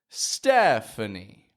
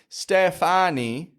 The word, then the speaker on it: Stephanie: We don't pronounce all of the vowels strong like Stefani, Stefani, but Stephanie, Stephanie. Only that first E needs to be enunciated.